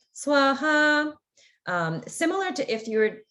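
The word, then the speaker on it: स्वाहा: So that's why, and you'll hear this in the temple, the swaha is not pronounced in that special way. It's pronounced just as a regular, like swaha.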